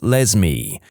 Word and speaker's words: Lesme: My mom is a public school librarian and the cringiest name she's encountered so far is a girl named Lesme, pronounced like Leslie but with an M.